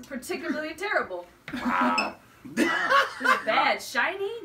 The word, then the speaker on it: SHINee: terrible oh my bad SHINee not shine me off nope demonic former